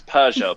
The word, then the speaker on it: Peugeot: I'm gonna say it like you guys, Peugeot. Peugeot. It's Peugeot, people.